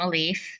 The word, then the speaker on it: Alif: And is it Alif? Am I pronouncing that correctly? It's great if not. Almost, I respond to all variations. I'm Alif.